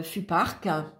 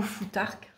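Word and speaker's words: futhark: Ensuite, les différents FUPARC. Donc, le FUPARC a 24 signes, hein, ou FUTARC, hein, ça dépend comment on le prononce.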